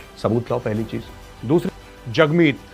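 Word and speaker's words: Jagmeet: दूसरी, जगमीत you know is pronounced as जग and rhymes with hug.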